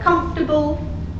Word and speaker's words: comfortable: So a word in English like comfortable has primary stress on the first syllable.